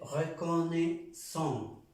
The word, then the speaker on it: reconnaissant: Je vous suis très reconnaissant. La A y la I suena E. Reconnaissant.